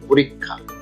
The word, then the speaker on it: পরীক্ষা: তারপরে আছে পরীক্ষা, উচ্চারণটা আমরা অনেকে ভুল করি, পরীক্ষা বলি, কিন্তু আসলে উচ্চারণ হবে পরীক্ষা।